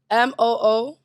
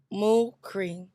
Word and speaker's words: Mukhri: Either way, my name is Mukri. We gotta go through this with y'all again. That's Mukri. Okay? MOO-KREE. That's to help you pronounce it. Mukri.